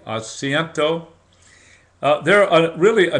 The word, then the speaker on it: asiento: we call that it's called the acento I may not be pronouncing everything correctly but a s i e n t o the asento uh there are really